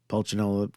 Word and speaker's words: Pulcinella: Pulcinella kind of rhymes with umbrella, holding a parasol, which he probably stole, and a stethoscope splits one sound into two.